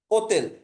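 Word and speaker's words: hôtel: বলছিলাম এইচ এর ক্ষেত্রে ফরাসিতে শব্দের শুরুতে যখন এইচ থাকে তখন এই এইচ এর উচ্চারণটা হয় না পরবর্তী যে বর্ণটা থাকে ওটা থেকে উচ্চারণটা হয় দেখেন এত্রে ও আছে ওতেল এখানে এটা সাইলেন্ট বাকি ক্ষেত্রে হচ্ছে ও থেকে উচ্চারণ শুরু ওতে ওতেল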